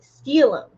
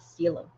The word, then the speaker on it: Stylum: Raja for aster air and salutra for stylum pronounced steelum. Ah, steelum the earth kingdom.